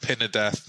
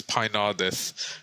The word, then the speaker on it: Pynadath: So it's Pinardus, not Pinadeth, not Prindadeth. I've heard all kinds, but it's Pinardus. And that's why everyone calls me, because people forget how to pronounce that.